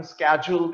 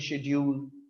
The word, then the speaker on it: schedule: जैसे American schedule कहते हैं, हम कहते हैं schedule.